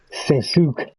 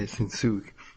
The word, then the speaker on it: Shinsuke: the time, Shinsuke, before I knew how to pronounce his name. Or what, wait, what did I call him? Sensuke. Shinsuke, yeah, Shinsuke.